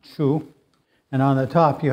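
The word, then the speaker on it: 厨: It's pronounced chu.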